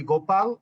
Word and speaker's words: Gopal: But generally in the Philippines, people call me Gopal, and it's like Go Philippine Airlines.